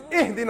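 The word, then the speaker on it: اهدنا: You better not say, Ahdina as-sirat al-mustaqim, otherwise I'm going to pound you. It's Ihdina as-sirat al-mustaqim. Read it right.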